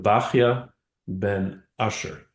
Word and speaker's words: Bachya ben Asher: the fascinating Bible Torah commentators, Rabbeinu, and we'll pronounce it this way, Rabbeinu Bachya ben Asher.